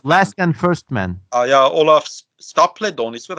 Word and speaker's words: Olaf Stapledon: Yeah, Olaf Stapledon, is that how you say his name?